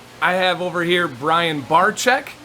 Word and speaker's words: Barczyk: have over here brian barchek said it right you got it tough spelling but easy pronunciation bar check yes exactly and he